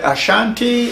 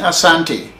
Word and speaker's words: Asante: very very powerful if you notice I keep using the word Ashanti and Asante as something is what we really call ourselves they're scientists but the English made it SH they think that the pronunciation of Santi has to have a CH in it so sometimes I will be using Ashanti as colonial masters give it to us but really we are